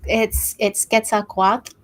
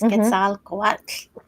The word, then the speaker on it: Quetzalcoatl: So it's Quetzalcoatl, and the TL is kind of like you have a fat tongue. It's Quetzalcoatl. Quetzalcoatl.